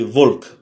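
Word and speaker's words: волк: Le B, c'est pas un B, c'est un V et se prononce comme dans vélo, par exemple. Et l'exemple qu'on a, c'est Volk.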